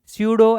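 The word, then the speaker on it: pseudo: क्या डिनोट करेंगे अब प साइलेंट है प कैसा है सूडो एक्सीलरेशन ए और ए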